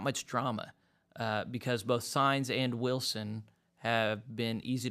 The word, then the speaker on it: Saenz: I always thought it was pronounced Saenz, but then whenever I talked to people in Great Plains Annual Conference, they said it's pronounced Saenz.